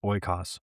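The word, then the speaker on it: oikos: It's pronounced ooas.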